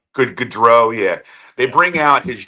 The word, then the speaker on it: Gaudreau: Then you have the team photo, and they bring out, and I'm going to mispronounce the gentleman's name. Johnny Gaudreau. Gaudreau, yeah.